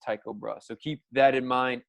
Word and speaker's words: Tycho Brahe: Tycho Brahe spoke with Tycho Brahe pronounced Tycho Brahe so keep that in